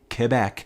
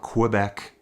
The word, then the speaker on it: Quebec: Straight out of Quebec City, Quebec. That's how you say it, folks. It's not Quebec. That's how I usually say it. As a Western Canadian, it's Quebec. You hit that K.